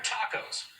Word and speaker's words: TACO: They are tacos, Trumpers on camera only. It's pronounced with a short O.